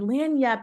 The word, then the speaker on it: lagniappe: It actually, if you wanted to Google it, is spelled login app a like that is what it looks like, but it is lagniappe. And lagniappe is a New Orleans